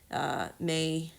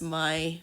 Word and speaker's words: Mai: Ladies, aka Azula, Tylee, May, which I don't know why they spell her name, pronounce her name like that. It's Mai, but you know what? It's anglicized names.